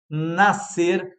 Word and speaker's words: nascer: Cidade, saber, nascer. Ou seja, tudo escritas diferente ali. Nascer, 2 letras para o mesmo som de cidade.